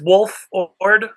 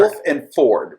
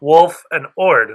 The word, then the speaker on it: Wolford: It's Wolford. Yeah, like the wolf. Yeah. Wolford. Wolf and Ford, right? Like Wolford. No, Wolf and Ord. There's only one F.